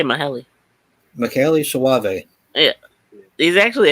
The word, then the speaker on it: Michele: yeah, 'cause I know because it looks like it should be Michelle. Yeah, How is it pronounced? I say Maheli.